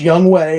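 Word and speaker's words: Younghoe: the field and even though his name is pronounced young way it's spelled young ho cou hit a walk-off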